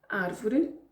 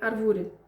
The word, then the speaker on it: árvore: deve ser pronunciada mais então palavras como árvore não é árvore a um acidente no primeiro apresento árvore a notícia